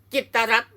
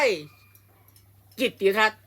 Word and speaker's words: กิตติ์รัฐ: นี้ แล้ว ไป อ่าน จิตรัตน์ ได้ ยัง ไง อย่าง งี้ อ่าน ได้ คำ เดียว ว่า จิต รั จิต รั จิต รั จิต รั ก็ ต้อง อ่าน ว่า จิต รัต เท่า นั้น ไม่ ใช่ จิตติรัตน์ ไม่ ใช่ จิตต รัต